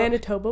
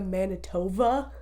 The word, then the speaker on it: Manitoba: sound and doing the Manitoba. Oh, like they didn't know what the word is. No, so people who aren't from Canada, they pronounce it Manitoba because that's what it sounds like in the thing.